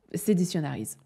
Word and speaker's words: Seditionaries: Seditionaries. Voilà, on va pas se compliquer la tête à essayer de faire un accent, on va le prononcer à la française.